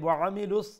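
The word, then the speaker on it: وَعَمِلُوا: ওয়া আমিলুস, এই জায়গার মধ্যে ওয়ামিলুস, এই যে আইনুরফে জবর না নিয়ে অনেক দেখা যায় যে এখানেও আইনুরফের যে জবর একটা লম্বা করে যায়, ওয়ামিলুস অমলাখান উচ্চারণ হয়ে যায়। তো একটা থেকে মানে বাসবা যে আইন মিডল থ্রোট থেকে উচ্চারণ করবা, বাট যে পরিমাণটা এটা খাটো রাখবা, কুইকলি মিমজের মি হঠাৎ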